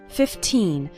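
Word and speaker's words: fifteen: 15 minutes a day remember to pronounce the second syllable of 15 nice and strong 15 not like 50 which is a different number 15 minutes a day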